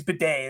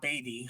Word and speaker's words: Bidet: And by the way, his name is Bidet. That's how you pronounce it. It's not Beatty. It is Bidet.